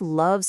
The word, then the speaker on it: love: The O in love sounds like the U in cup.